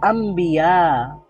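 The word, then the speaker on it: أنبياء: এর কারণেই এটা হচ্ছে তো আমরা কি বলবো আম্বিয়া মূলত নবী এর বহুবচন হচ্ছে আনবিয়া আনবিয়া তো ছিল তো ন নুন সাকিনের পরে আবার বা আছে তো এজন্য ন সাউন্ডটা ম সাউন্ড হয়ে গেছে আম্বিয়া হয়ে গেছে হুরুফুল ইদগাম আমরা পড়েছি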